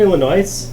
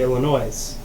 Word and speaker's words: Illinois: was like oh yeah so I live in Illinois and I'm like oh nice I'm like wait you know it's pronounced Illinois he's like no I didn't and I'm like